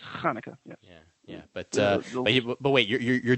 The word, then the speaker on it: Hanukkah: It's not pronounced Chanukah. The C is silent in Hanukkah. It's Hanukkah.